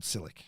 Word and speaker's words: Ysilik: It's just called Ysilik. Right. It's kind of Yeah, you could. You can do that. Yeah, we Yeah, kind of. the Y is optional. Yeah. It's optional. Yes. Ysilik.